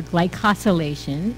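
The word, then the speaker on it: glycosylation: And then lastly, glycosilation or glycosillation is how they actually pronounce it.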